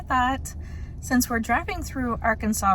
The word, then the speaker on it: Arkansas: those fun facts so instead of our Kansas you don't say that you say Arkansas the third fun fact